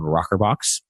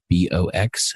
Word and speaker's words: rokrbox: Back in 2013, I started a company called rokrbox. It's spelled kind of strange, ROKRBOX.